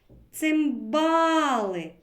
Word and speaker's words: цимбали: скільки складів у слові цимбали порахуємо промовимо разом цимбали правильно три скільки голосних звуків стільки ж і складів три А на який склад падає наголос покличемо цимбали наголос падає на другий склад діти пропоную